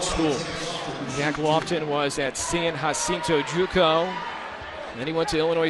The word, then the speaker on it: San Jacinto: know how to parent we know how to pronounce our J's in espanol but yeah he says